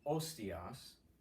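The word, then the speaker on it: hostias: Tolite ostias, no H, you just cross that H out, no aspirate H there.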